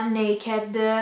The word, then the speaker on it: NA-KD: E adesso vi faccio vedere le cose che mi sono arrivate da un sito che si chiama Naked, scritto NAKD, quindi non è proprio Naked, però vabbè, se si legge così.